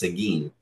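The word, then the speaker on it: Seguin: in the little town this is pronounced sigin so anything coming down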